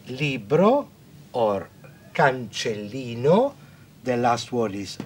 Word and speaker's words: cancellino: And in the dictionary, you will find this word, let's pronounce together. Cancellino, cancellino.